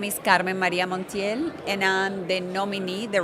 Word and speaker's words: Carmen Maria Montiel: Yeah, my name is Carmen Maria Montiel, and I'm the nominee, the Republican nominee for U.S.